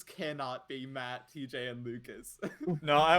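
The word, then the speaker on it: Maet: name is matt um it's the ae no it's pronounced matt matt you have expertise in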